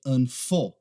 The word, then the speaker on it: unfortunately: Aqui é unfor. A ênfase está nessa. For. Unfortunately. Unfortunately.